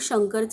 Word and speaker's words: शंकर: हा शब्दात शेवटी आहे आणि शेवटी अ चा उच्चार होत नाही म्हणून आपण आर च्या पुढे ए लिहिणार नाही मग शंकरच स्पेलिंग काय तयार झालं